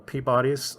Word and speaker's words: Peabody: he did marry into a family called the peabodys he married a woman named sophia and yes that is how it's pronounced um she she was his pretty much